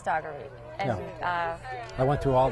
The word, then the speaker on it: Dougherty: And which is funny because it looks like Daugherty, but it is Dougherty.